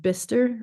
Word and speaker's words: Bicester: of of Oxford uh called bister or Bicester is kind of how it's spelled so it's a bit bit tricky um for the American speakers um and I I